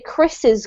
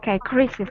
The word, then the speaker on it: Chris's: We only have an apostrophe at the end, but when you're reading, you still need to pronounce the extra syllable. So you would say Chris's clock, okay? Oh, okay. Chris's clock.